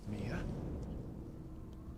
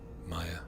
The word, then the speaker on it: Mia: Mia? What's going on? Ethan, there's something I have to tell you. For all these years, you've been mispronouncing my name. It's actually Maya.